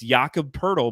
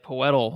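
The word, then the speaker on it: Jakob Pöltl: idea how to say it's it's jakob purdle but spelt like jacob poitl i just yeah when we did the game preview i think the first game you said like poetal or something but it's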